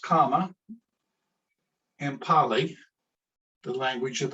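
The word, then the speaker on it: kamma: The Sanskrit word karma, which is pronounced kama in Pali, the language of the Buddha, simply means action.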